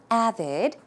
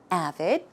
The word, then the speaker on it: avid: You probably know the definition of this word already by now, but just in case, the pronunciation, the stress goes on the first syllable, so it's avid, avid, and it means enthusiastic, devoted, dedicated, or even fanatic.